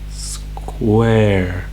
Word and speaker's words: square: Square. The E is at the end. The E at the end is silent.